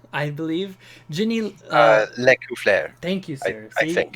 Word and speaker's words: Lescouflair: Black, Will Doyle, James Heck, James Introcaso, Rich Lescouflair, I believe. Ginny... Lecouflair. Thank you, sir. I think. You've got that. I know you've got the French pronunciation.